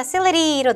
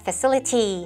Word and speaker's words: facility: 미국의 센트가 facility로 넘어가고요. 영국의 센트가 facility 하고 T 발음 살려줄 겁니다.